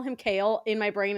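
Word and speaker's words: Chaol: can't call him kale my sister thought it was chowl which is so jarring to me I think in my head when I first started reading it I was like choll and I was like that's simply not right and then I was like all right I saw Tik Tok and someone was like kale and I was like okay yeah I feel like I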